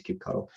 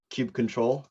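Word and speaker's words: kubectl: if you see it just know that means cute cuddle and i i knew this was going to be uh definitely i mean you can pronounce it at cube control but you know keep cuddle is definitely it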